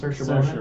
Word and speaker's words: Saoirse: Lady Bird as a character, played by, how's her name pronounced? Saoirse Ronan. Yeah. Saoirse Ronan.